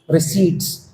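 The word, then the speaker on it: receipts: Revenue रिसीप्ट्स। Revenue expenditures. रिसीप्ट नहीं होता। रिसीट्स P is always silent बोलते नहीं है उसको।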